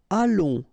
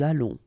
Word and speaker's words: allons: Nous allons, remember final S not pronounced. O and together it's on, and then we'll make this little link between the two, what we call the liaison, nous allons.